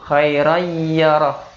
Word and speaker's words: خيرا يره: Khairan bacanya khairai, alinnya hilang, yarahu, khairai yarah.